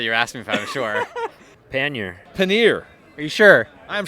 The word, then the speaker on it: pannier: I'm an American so I'm gonna say pannier Pena some would say paneer others might say penny a choose your cheese your